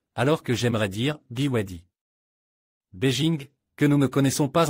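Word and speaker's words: 北京: Beijing que nous ne connaissons pas encore très bien et Beijing en chinois et se prononce Beijing est la traduction du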